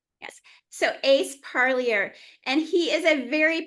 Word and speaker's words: Parlier: Do you mind pronouncing your full name? It's uh Parlier. Parier name. Yeah. Yes. So, Ace Parlier and he is a very patient, understanding man